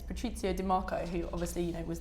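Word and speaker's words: Patrizio Di Marco: piece and actually yesterday about the letter that pronounce his name it's Patrizio DeMarco who obviously you know was the CEO Gucci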